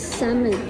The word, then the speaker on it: salmon: a l m o you can your the pronunciation is Salmon silent Yeah hindi Salmon hindi Salmon sal ano